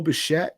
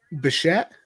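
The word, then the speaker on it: Bichette: 89 and a half she also took beau beshet to win the aomvp you probably get some good value on that one by the way um how do you spell that bashet boba or is it yeah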